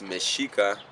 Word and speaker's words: Mexica: we were the Michiko they couldn't pronounce miss chica because there wasn't that sound in Spanish so they put an X through it son they started pronouncing it as Mexico you know miss chica